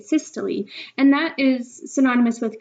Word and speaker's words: systole: of those new words it's spelled like "sys-toll" but you say it "sys-tol-lee" and that is synonymous with contraction.